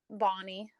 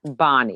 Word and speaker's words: Bonney: I'm so excited about my next guest, April Bonney. Is that how I pronounce it? Is that the right? It's Bonney, Bonney. like a Okay. girl's name.